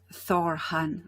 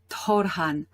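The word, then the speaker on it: Thor-Han: i saying correct quran in fact it's um thor han or torhan it's difficult to pronounce well you could also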